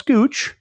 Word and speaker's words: Scooch: forget our friends that's that's scooch rhymes with pooch um at scooch because